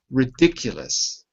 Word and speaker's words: ridiculous: Ridiculous. 4 syllables. Where's the stress? Ridiculous. 4. 4 syllables, but where is the stress? Can you please repeat again? Ridiculous. The second one.